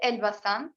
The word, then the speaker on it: Elbasan: So the city that I live in is called Elbasan.